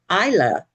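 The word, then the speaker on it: Eilah: And the closest that would come was e i l a h, which is pronounced Isla. And it's a Hebrew term for oak tree.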